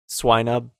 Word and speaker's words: Swinub: Swinub. Oh, yes. Like Pylo Swine.